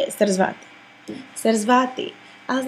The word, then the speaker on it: Sarasvati: That's how you say it, Sarasvati.